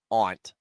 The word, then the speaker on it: aunt: pronounce it foreign no no Nico it's Aunt aunt a-u-n-t on WE step